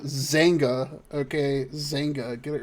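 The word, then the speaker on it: Xanga: If anybody's familiar with what Zanga is, I know that's fucking dating myself like the plague. But I got permabanned from the American Dream Zanga because I was 14 and too dumb to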